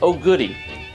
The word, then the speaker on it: OGDY: hashtag OG d y that stands for open game data yes it's pronounced Oh goodie when you post your